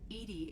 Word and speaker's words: EDI: Edy is the phonetic pronunciation of EDI.